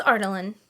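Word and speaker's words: Adarlan: well and I memorize it's artaline okay artaline because that's how um Elizabeth Evans says it yeah love Elizabeth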